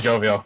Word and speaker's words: jovial: I think it's jovial, yeah. Jovial. Yeah, it is jovial because it's based on the word Jove, which is the name of a god.